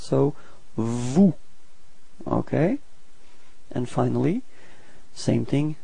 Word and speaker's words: vous: Same thing, final S is not pronounced, so vous.